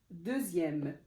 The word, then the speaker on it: deuxième: C'est par exemple comme dixième, comme j'ai écrit ici, dixième, deuxième. En fait, c'est dans les, la plupart, c'est dans les nombres, en fait, quand le X se prononce Z, Z.